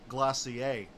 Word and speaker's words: Glacier: Actually, if you look at the name of tonight's stream, it's actually pronounced Glacier, right? It's French. It's fancy.